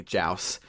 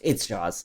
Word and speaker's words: Jaws: Fritz and Sharky Boy Joust. And it's Jaws. It's Jaws. No, oh yeah, it is pronounced Joust, but it's Jaws. It's Jaws.